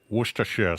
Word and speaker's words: Worcestershire: where's the shops okay Worcestershire sauce Worcestershire sauce all right I guess I'll try it so you're mistake is you're not supposed to pronounce the r foreign how much